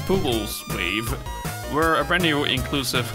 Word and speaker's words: pUwUlsewave: you by pools with how do you pronounce it it's a pool's wave we're a brand new